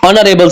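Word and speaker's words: knee: यहां पे एच जो हाईलाइट किया भा ये साइलेंट है Yusuf is an Narel citizen his father is an honest businessman he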